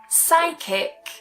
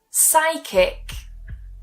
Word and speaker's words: psychic: with our first rule words that typically start with P S Y have a silent P and that first part is usually pronounced as sigh I for example psychiatrist so we don't try and say the P psychiatrist psychic psychic psychology